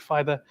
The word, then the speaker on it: Pfida: And as Molana Shams already alluded to, the P at the start uh is a silent P and it stands for people because the idea behind Fither is to always bring goodness or benefit to the people inshallah.